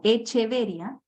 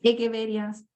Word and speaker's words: Echeveria: eso es lo otro los nombres en latín tienen otra pronunciación Entonces si uno por facilidad los tiende a leer como se escriben como echeveria pero no se asusten Si de repente ven o escuchan a un botánico una persona más especializada Y va a hablar de las echeveres porque la ch se pronuncia como una K entonces las egueverías son